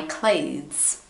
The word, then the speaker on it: clothes: It's hard because you have and then you have E and then S. It's like, what else do you want? Clothes. Clothes. If it's really hard, you can just say a very soft T and S.